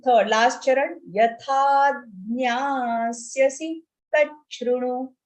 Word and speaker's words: तच्छृणु: Yatha jnasyasi tachrunu. Cha, cha and ru. Tachrunu. Next, second shlok.